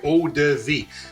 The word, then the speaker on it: eau de vie: There's another pronunciation for you, eau de vie.